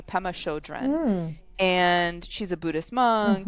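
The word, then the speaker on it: Pema Chödrön: scare you by Pemma Pem I want to pronounce it correctly Pemma Shodren and she's a Buddhist monk and um she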